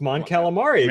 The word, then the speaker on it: Mon Calamari: No, I think it's pronounced Mon Calamari because remember the fucking robot chicken where Leia's like, yeah, but that's robot chicken.